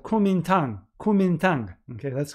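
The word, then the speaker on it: Kuomintang: and spontaneously political party was formed called kumintang kumintang okay that's how it's pronounced i before i came here to do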